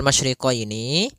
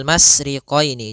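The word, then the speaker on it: مَشْرِقَيْنِ: Pada lafal masyriqaini maka di sini ada huruf syin maka kita harus membacanya dengan adanya sifat tafasyi. Apa itu tafasyi? Tafasiyi adalah salah satu sifat yang terkandung di dalam huruf syin yaitu menyebarnya suara. Sehingga jangan dibaca rabbul masriqoini.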